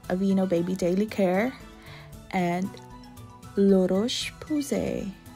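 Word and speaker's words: La Roche: baby daily care and lurosh that's how they pronounce apparently but yeah laroche it's quite pricey for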